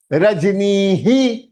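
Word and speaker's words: रजनीः: So visargah sound will become he, and that he half to ni hi, नी ही, नी ह नहीं होगा, नी हा नहीं होगा, नी ही, रजनी ही, रजनी ही.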